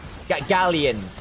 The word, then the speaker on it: Galions: Gallions. Gallions. Gallions. Gallions. At least that's the English pronunciation.